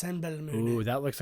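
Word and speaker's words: Simbelmynë: Cymbelmine. It's pronounced Senbelmune.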